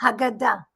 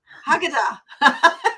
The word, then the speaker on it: Haggadah: Is that how you Haggadah. Haggadah? Haggadah. Okay, I was close in my Yeah, pronunciation.